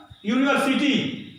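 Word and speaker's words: university: अब बताइए जो है ये यश शुरू है और यह यू है, तो उच्चारण यश इसको माना जाएगा, अ यूनिवर्सिटी, है ना।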